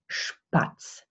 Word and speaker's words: Spatz: Okay, when you have the letter S plus a P, the S is pronounced like the sheep sound. So we have Spatz.